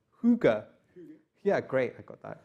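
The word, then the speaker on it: hygge: sofas it's about what looks like hygiene but it's pronounced hookah yeah great I got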